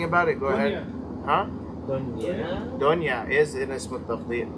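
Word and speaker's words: دنيا: Dunya. Dunya is an Ism Tabdeel. Is it? Yes, it is. Dunya. What does that mean? Talk about the dunya, right? Yeah. It rhymes with Fu'la.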